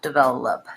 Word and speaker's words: develop: at the beginning so short long short develop so that oh it's probably actually a schwa develop develop so it's going to have the sound so I if I had to rewrite it I'd write it as did well up develop and then for developing